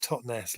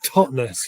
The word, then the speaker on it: Totnes: a bone of contention people always pronounce it totness like Lochness and it's totness well that was lucky